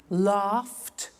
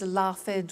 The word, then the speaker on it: laughed: pronounce the t danced laughed washed and walked okay now the temptation is to say watch it dan said la fed wash it but we eliminate the e and we add t okay watched danced good